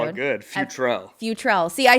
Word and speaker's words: Futrell: i always bought your last name good future futrel see i said it right 49 000 times